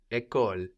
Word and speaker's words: école: School is école.